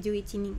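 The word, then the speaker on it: 十一人: Nah, juichi bukan juhitori tapi juichining gitu ya.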